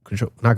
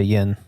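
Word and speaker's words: yen: No, because Japanese starts with I know Japanese is yin, which is interesting because you don't say yin. Yin. It's N. When you actually pronounce it, it's N.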